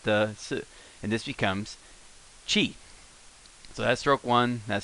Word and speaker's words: ち: down like this Qi as Chia's in cheetah handkerchief cheese in fact the key